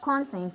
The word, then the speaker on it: contents: He was asked the number of contents in the basket. So the stress is on the first syllable to show that it's a noun.